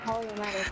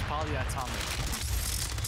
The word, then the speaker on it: polyatomic: The key part, polyomatic. Is that how you say it? It's polyatomic. Oh, polyatomic. Sorry.